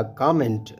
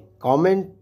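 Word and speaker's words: comment: इस लफ्ज़ को आप कमेंट या कमेंट दोनों तरह से प्रोनाउंस कर सकते हैं, कमेंट ब्रिटिश और कमेंट अमेरिकन प्रोनाउंसिएशन है।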